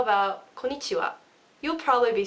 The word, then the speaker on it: konnichiwa: Okay, so konnichiwa, like that. You notice with the wa, I go wa, like that. That is very Japanese. You need to go wa, konnichiwa, like that.